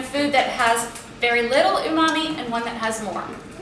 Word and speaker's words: umami: Umami is spelled u m a m i Umami and it's it's a Japanese word and it means Savory or brothy or meaty so now